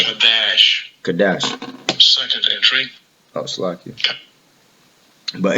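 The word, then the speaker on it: קָדַשׁ: The pronunciation for the word in Hebrew, right, is this one. Strong's H6942. Kadash, right? Kadash.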